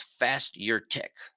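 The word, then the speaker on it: Fasturtec: it before but it's called Ras bucas and it's spelled r a s buur i c a e another name for it is fast your Tech f a s t u r t c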